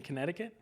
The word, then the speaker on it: Connecticut: would Canton, Connecticut. Yeah. Canton. How do you say Connecticut? Connecticut. No T's in there. Connecticut. There's not a single T in Connecticut.